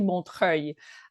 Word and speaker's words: Montreuil: And I often use the Montreal, like Tina Montreuil from Montreal. So it's actually Montreuil, but that's quite difficult to pronounce. So whichever way, if Montreal helps you phonetically pronounce it, it's really good.